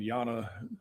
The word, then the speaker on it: Jana: Bradley and Yana Hocevar, Hocevar, and Yana is spelled Jana.